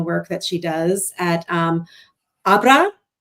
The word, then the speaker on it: Abra: that she does at Abra, the accent is on the second one, right?